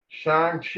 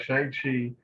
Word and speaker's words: Shang-Chi: think it was facebook i said shine chi if i'm saying it right shang chi is what iron fish fists with